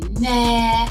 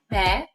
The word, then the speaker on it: Meghan: People were saying meh. It's not meh. It's pronounced me. The H is silent.